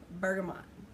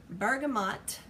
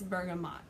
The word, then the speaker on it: bergamot: to talk about is bergamot okay bergamot is actually how you say it because I have a